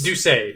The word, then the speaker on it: Doucet: Lars Doucet. Yes? Doucet. It's French. It's pronounced both ways, but mine's close enough. Doucet.